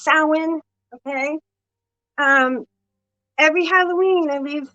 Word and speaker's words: Samhain: Every Halloween, which is Samhain, people pronounce it Samhain. That's wrong. It's Samhain.